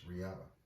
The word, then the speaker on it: Rihanna: can't say your name right a Syria it's Rihanna it's not real it's how I pronounced um let me see oh I'm